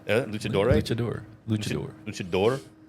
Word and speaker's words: luchador: Yeah, luchador. Luchador. Luchador. Is it not luchadore? Luchador.